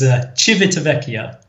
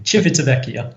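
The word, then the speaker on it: Civitavecchia: So, the that stop is Chivvekia with a ch at the beginning. Chivetia. Okay.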